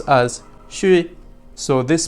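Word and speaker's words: 水: have three dashes or dots on the left pronounced as shui.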